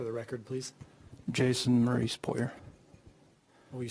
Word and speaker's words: Poirier: Jason Maurice Puyer. Will you spell that?